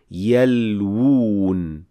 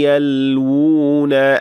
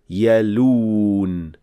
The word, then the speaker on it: يَلْوُونَ: So we say yalwoon by pronouncing two waws one after the other. وَإِنَّ مِنْهُمْ لَفَرِيقًا يَلْوُونَ أَلْسِنَتَهُمْ بِالْكِتَابِ So, يَلْوُون, not يَلُون, because this would be fusing two waws into one.